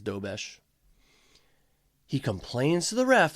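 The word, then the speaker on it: Dobeš: But then the goaltender, I I forget how to pronounce his name, Dobesh, I think it's Dobesh.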